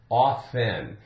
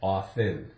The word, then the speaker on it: often: often and generally we consider it to be pronounced correctly as a silent with a silent as often ofen so off FN ofen really this one can go either way there's